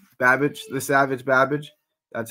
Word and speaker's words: Babic: babage Savage Babbage Babbage right Babbage The Savage Babbage that's how you pronounce that he's 33 years old he's 12